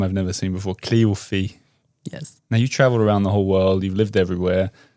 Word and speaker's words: Cléophée: And then another E at the end, Cléophée. Yes. Am I saying it right? You're saying it right. Cléophée.